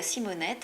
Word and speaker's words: Simonet: longtemps la vigne de Simonet du nom d'un des très anciens propriétaires qui s'appelait Simonet mais avec la prononciation locale Simonet ça donne si Monet donc c'est une belle